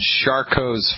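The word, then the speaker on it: Charcot: really bad the condition is called shark hos foot you spell that's a French word ch AR see ot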